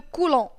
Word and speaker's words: coulomb: L'unité pour laquelle s'exprime la charge c'est le coulomb. تتكتب coulomb mais الب ما تتنطقش.